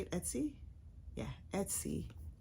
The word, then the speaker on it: Etsy: Yeah, Etsy.